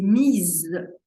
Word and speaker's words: mise: à votre grammaire sa position féminin a été mise je prononce the parce qu'il y a le E